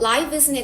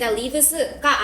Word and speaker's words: lives: Our daily lives 여기에서 lives는 lives가 아니에요, 여러분. 그치요? life의 복수형이기 때문에 lives라고 읽어주시면 되고요.